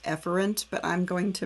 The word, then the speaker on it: efferent: actually pronounced um afferent and the other one's pronounced efferent but i'm going to mispronounce them so you